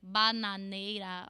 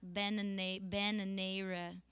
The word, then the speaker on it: bananeira: You cannot, if you say like bananeira or bananeira, it's not going to sound Brazilian. We have to think about this. It's more open. It's like ban.